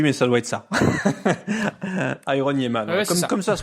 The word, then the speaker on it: Iron.Yeahman: Iron Yemman comme comme ça se prononce.